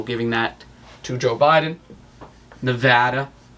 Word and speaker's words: Nevada: that to joe biden nevada that's how that's pronounced by the way i was told by the news all right arizona arizona